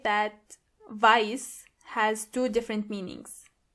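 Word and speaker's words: weiß: And make sure you are pronouncing the correctly. Exactly. White means vice.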